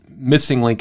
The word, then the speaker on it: MSing Link: the founder of the missing link and that's missing link is how it's pronounced but it's spelled msing than link um